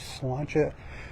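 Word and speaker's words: sláinte: to their Facebook page slancha not spelled the way it sounds it's spelled s l a i n t it's an Irish word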